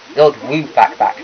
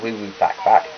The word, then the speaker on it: Lord Woo Fak Fak: Lord Woo Fak Fak, not Woo Woo Fak Fak.